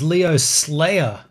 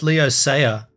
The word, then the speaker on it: Leo Sayer: the cover image uh I always thought his name was Leo Slayer have I been saying it wrong no it's Leo saer you know what though